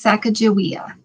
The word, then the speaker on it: Sacagawea: closer to clark oh the g is pronounced like a j so it's sacagawea oh interesting well i